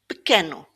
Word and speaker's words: pequeno: In some words, the E is pronounced like a very short E. So, pequeno.